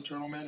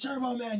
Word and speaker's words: Turbo Man: how much it cost turb calls him turtl man everybody's like it's Turbo Man you tur turb s he go turtle turtle he call Turtle but schwarzer